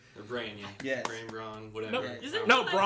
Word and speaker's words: Bronn: Braun.